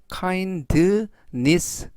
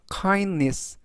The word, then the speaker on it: kindness: 그리고 알파벳 D는 묵음은 아니지만 발음이 약해서 kindness 보다는 kindness 라고 발음하시면 더 좋겠습니다.